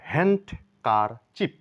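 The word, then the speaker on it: handkerchief: extra ভাবে আমরা জেনে নেই এটা এটাকে আমরা হ্যান্ড কার চিপ মানে রুমাল হ্যান্ড কারচিপ বলে থাকি মূলত এখানে ডি সাইলেন্ট হবে হ্যান্ডকার চিপ হ্যান্ডকার চিপ হ্যান্ড নয়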